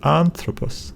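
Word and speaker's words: ἄνθρωπος: paws aunt ro pause so it doesn't really matter whether you say an throw pause or you will say aunt ro pause doesn't really matter so just remember three vowels three syllables anthropos anthropos you Dyess curious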